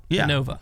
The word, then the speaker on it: Innova: It's yeah, it's just said in a different in o va. You think that's the best way to to spell that out? Innova. think it is. Cuz now it's now you just say it really fast. You say Innova. Innova, like almost i n n a.